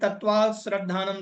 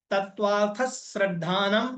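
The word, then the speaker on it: तत्त्वार्थश्रद्धानम्: ऐसे नहीं बोलना कि तत्व श्रद्धान सम दर्शनम अब बोलना है तत्वार्थ श्रद्धानम सम्यक दर्शन ये सही उच्चारण है तत्वार्थ श्रद्धानम तत्व अर्थ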